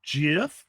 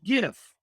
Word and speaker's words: gif: my favorites um okay some people say it's jif like the peanut butter but it's a g it's a hard g so it's not it's it should be gif i'm going to gif